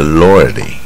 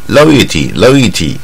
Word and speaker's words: loyalty: 啊，我们说忠诚呢，是 loyalty. 啊，这是卷舌的音，不要念 loyalty 就不对啊。Loyalty.